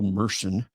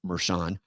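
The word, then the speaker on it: Mershon: goes something like this so now that Phil meren by the way my name is pronounced meran but Phil meren is getting ready to come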